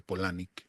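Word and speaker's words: Palahniuk: Palanuk se escribe, se dice Polanic, escribió la segunda parte, el Club de la Pelea, que es una novela gráfica.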